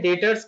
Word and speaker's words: debtors: और ध्यान देनी है, यहाँ पर लिखा जाता है डेब्टर्स, DEBTORS, लेकिन इसको पढ़ते हैं डेटर्स क्योंकि इसमें जो बी होता है, ये बी हमारा साइलेंट होता है। ठीक है, तो ये हमेशा हमको डेटर्स का प्रोनाउंसिएशन करना है।